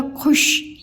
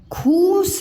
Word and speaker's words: खुश: लिखा है, मैंने बोला खुश, खूस नहीं, खुश। खू छोटा हो गया खू और श, खुश।